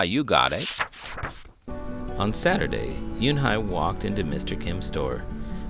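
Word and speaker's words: Unhei: "Your name is Un-hee?" he asked her with his eyes open wide. Yunhai looked quickly at Mr. Kim and then turned to Joey. She nodded slowly. "Yes, it's pronounced Yunhai."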